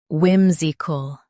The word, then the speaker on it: whimsical: Emphasize whim and soften zical. Vim, Z, cool, whimsical.